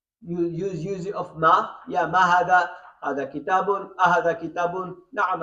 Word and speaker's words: هذا: When we write it hada, but when we pronounce it, we say hada, okay? Hada, okay? Can you see? Hada is pronounced as hada, but written without the first alif.